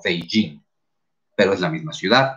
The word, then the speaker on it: Beijing: las lenguas occidentales y se aclaró que el nombre no era pekín o que la pronunciación no era pekín sino beijing pero es la misma